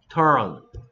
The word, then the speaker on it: turn: 한국 사람들 조금 까다로워하는 발음인데 이런 식으로 발음하는데 유가 어데서 힘 빠져서 털의 얼 소리 살짝 껴주고 여기다 이렇게 turn turn 마치 turn turn을 빠르게 한다 생각하면 돼 turn Turn.